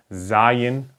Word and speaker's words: Zayin: Well, I just put a Z like in Zoom. Okay? I'll write it there so you can remember how to pronounce it. Like in Zoom. Zayin like in Zoom.